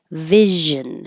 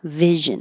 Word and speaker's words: vision: Vision. The SION sounds like jeune. Vision.